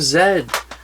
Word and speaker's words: Z: money um yeah and it pronounced the lost city of zed that's how they say in the movie hey it's the many